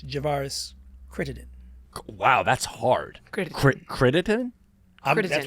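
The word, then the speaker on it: Crittenton: I mean, you might have a different opinion as we norm a lot do opposing views, but Javaris Kitten.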